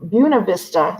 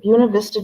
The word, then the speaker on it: Buena Vista: preservation of pasaquan in it's pronounced uh i'm going gonna say wrong buna vista georgia i said it correctly buena vista georgia uh so pasaquan this